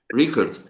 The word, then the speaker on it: Riekerd: Rickards. Yeah. Rickard. Rickard. Rickard. Okay. And And your name pronounced Wallace.